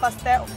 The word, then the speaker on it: pastel: this it's called a pastel that's how we pronounce pel pastel it's a beef pastel okay right it's basically a uh flour FL